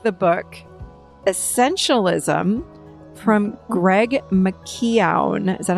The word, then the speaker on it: McKeown: So Sandra, you like the book Essentialism from Greg McKeown. Is that how you say it? McKeown?